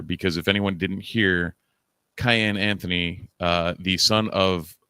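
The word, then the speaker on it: Kiyan: as we now know it's Cayenne Anthony like cayenne pepper there there are many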